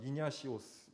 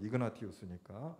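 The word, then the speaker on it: Ignatius: 이름부터가 여기 이냐시오스 이렇게 이태리식으로 발음을 하고 있는데, 원래 이름은 이그나티우스니까 뭐 이런 게 좀 다르고, 우리는 예를 들어 감독을 여기서는 주교라고 표현해요.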